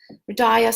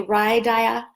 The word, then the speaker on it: Hridaya: Hridaya, some people say Hridaya. There's a few different ways to pronounce it.